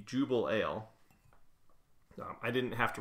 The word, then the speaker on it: Jubelale: what it was anyways I do now know that's how it's pronounced the Jubal ale um I didn't have